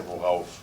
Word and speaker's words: worauf: I just pronounced it wrong. Yeah, you were trying to say worauf.